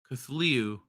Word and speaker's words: Cthulhu: Something about Cthulhu, or however you spell it. You almost had it. You Cthulhu. Cthulhu.